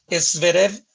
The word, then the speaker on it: Zverev: marina le decía es viene con una genética se escribe zverev se para y me corta que r me corta zverev y mitrofán zverev estaba acá y entonces lo